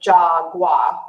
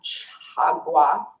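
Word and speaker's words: 자과: So Jagwa, or in Korean it would be pronounced more with the CH sound, Chagwa, could be translated as my fault, my misdeed, question mark, exclamation point.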